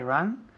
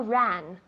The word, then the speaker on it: run: I run where she runs. Good. Con la U, que pronuncia muy bien. I run where she runs. Run, no ran. Run. Es un poco cerrado. Tienes la boca cerrada.